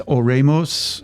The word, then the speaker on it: Oremus: I don't Because when you say Oremus, I spell it like Exactly. Oremus. Exactly. No, it's not. It's Oremus.